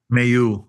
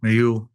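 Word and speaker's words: Méheust: Uh do you pronounce his name Bertron May? Mayu Mayuh Mayu and returning the human sciences to consciousness.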